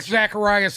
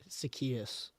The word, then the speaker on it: Zacchaeus: may just be out I like Zacharias in Philadelphia you kidding me Zacchaeus it's Zacchaeus yeah I have no